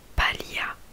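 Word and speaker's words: paglia: Il y a aussi un autre exemple, palia qui veut dire paille. Palia en fait bah, du coup ça s'écrit P-A-G-L-I-A et du coup le G ne se prononce toujours pas.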